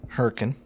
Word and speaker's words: Hurricane: that are named Hurrican Hurrican hurric name hurricane hurrian is the way we pronounce it in West Virginia hurricane and a